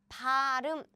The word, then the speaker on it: 발음: So it's pronounced as in, oops, 발음.